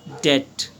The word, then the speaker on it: debt: are called in English debt d E B T now this B is not pronounced right so he's under